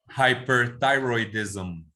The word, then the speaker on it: hyperthyroidism: Entonces dices primero hyper, después thyroid y después ism. Y cuando lo dices rápido dices hyperthyroidism.